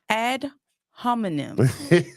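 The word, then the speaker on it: ad hominem: first fallacy go ahead add homonym is that how you pronounce it yes ma'am it is ADD homonym so add homonym fallacy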